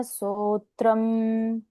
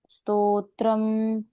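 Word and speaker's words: स्तोत्रम्: श्री विष्णु सहस्र नाम स्तोत्रम नामत्रम नामत्र स्तत्रम करेक्ट स्तत्रम हुआ ना स्तत्रम स्तोत्रम स्तो के बाद त्र है यहां पर ऐसे करेक्ट और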